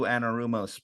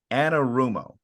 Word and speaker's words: Anarumo: Now, I will say, you mentioned Lou Anarumo's potential strategy here of dropping guys back.